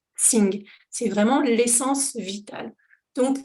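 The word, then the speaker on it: jing: à l'heure le Ting ça s'écrit j i n g et ça se prononce sing c'est vraiment l'essence vitale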